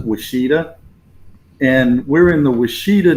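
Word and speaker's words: Ouachita: Some people would say Wichita, but they pronounce it Washita.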